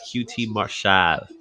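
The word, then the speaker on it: QT Marshall: you gotta say his name just like that QT marshad he's gonna he oh he's just getting hammered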